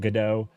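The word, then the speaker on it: Godot: God do um or some people pronounce it gdo I pronounce it God do but uh I was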